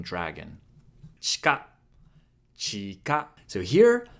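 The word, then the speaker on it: 地下: Chika, chika. So here, the I in chi can be devocalized when you say it fast, and it's going to sound more natural.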